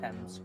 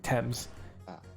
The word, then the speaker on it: Thames: face down in the teams tomorrow morning how do you say that the Thames Thames gotcha because as soon as